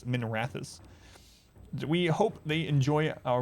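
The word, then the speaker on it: Minrathous: supposed to be pronounced i always pronounce it minerathus for some reason but it's minerathis we hope they enjoy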